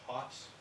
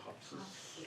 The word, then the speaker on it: Hopsis: And it's Hops, is that right? Last name pronounced, Hops? I would say Hopses.